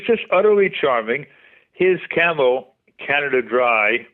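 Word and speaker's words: Canada Dray: utterly Charming his camel Canada Dry pronounced like the soda but I don't know if it's an intentional pun the dry was spelled Dr a y like a Dre horse uh that Camel had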